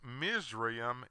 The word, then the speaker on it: Mizraim: name of Ham's Second Son whose name is pronounced mream in Hebrew they do this to smokescreen the